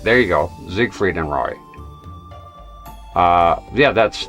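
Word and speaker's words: Siegfried: However, in English, this is usually said as Zigfried. Ah, that's so in English. So, gotcha. Zigfrieded. I will say Zigg Freed then.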